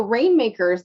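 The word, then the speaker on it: RNMKRS: have a site so rainmakers that's that's the tricky thing you know it's it's pronounced rain makers but it's spelled without any of the vowels so it's r n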